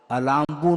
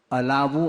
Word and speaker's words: अलाबू: और व्यापगत लेप अलाभवत, अलाम्बू नहीं बोलते हैं, कई लोग अलाम्बू का उच्चारण करते हैं, अलाबू अर्थात तुम्बी, व्यापगत लेप अलाभवत, वो